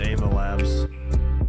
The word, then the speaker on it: Ava Labs: I thought that was Ava Labs.